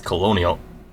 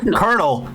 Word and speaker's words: Colonel: This is Colonial. Is that how you pronounce it? Colonial. It isn't. No. No. What? A hushed murmur rose to the classroom as colonial co someone. Colonel. Colonel. As Colonel Sanders walks down the aisle of desks.